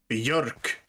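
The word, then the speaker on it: björk: yep okay i haven't told you how to pronounce uh birch in swedish i don't think so york it sounds like a an alternate word for bureaucracy or something you mean bureaucrat so close enough okay the bjork is probably more closer to bjorn this is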